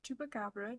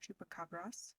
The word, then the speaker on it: chupacabras: pronunciations it's chupaca or chupacabras both of them are correct but the original pronunciation is with the S so these creatures were